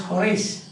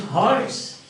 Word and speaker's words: Horace: Some people pronounce it as Horace, but actually it is Horace.